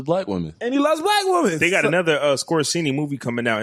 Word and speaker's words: Scorsese: They got another Scorsese movie coming out.